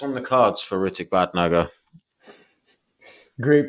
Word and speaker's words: Bhatnagar: what's what's what's on the cards for ridic bad nugga great pronunciation of my last name by the way